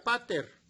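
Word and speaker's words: πατήρ: padre que significa padre la palabra padre en el idioma griego se pronuncia pater dice de una raíz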